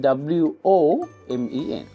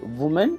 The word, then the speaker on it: women: But when you write, you will write W-O-M-E-N for woman. Okay, so you don't say woman, that is wrong. It is women. That's how we pronounce it in English.